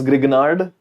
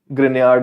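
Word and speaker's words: Grignard: organometallic you call this Gard but it's a French name so grard is a better pronunciation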